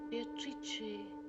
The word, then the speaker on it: Beatrice: It is pronounced Beatrice in Italian which makes it very beautiful.